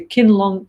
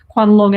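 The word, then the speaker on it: Qianlong: the court of the kin long kin long Emperor excuse Chinese friends for the bad pronunciation Quan long Emperor who was a very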